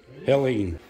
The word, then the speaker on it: Helene: How do you say it? Is it Helene? Helene? Yeah. Aileen? It's Helene. But yeah, it's really, really bad.